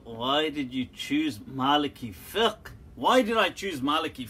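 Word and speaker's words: فقه: So, but in traditional fiqh, it's called fiqh with a kasra, okay, not with a dhamma.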